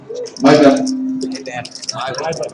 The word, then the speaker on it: Myburgh: Myburgh. I think he butchered it too.